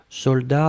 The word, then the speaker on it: soldats: attention sec de best soldats avec un thé final on ne prononce pas le thé mais logiquement il devrait être là d'accord donc soldats s